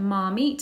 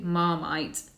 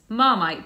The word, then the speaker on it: Marmite: It is a very strong taste, but it's not said Marmite, as my ex-Italian boyfriend said. It's actually Marmite. Marmite.